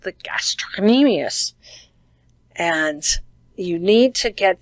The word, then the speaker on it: gastrocnemius: And this one is the one that people have the most trouble saying, and this is our calf, and it is pronounced the gastrocnemius.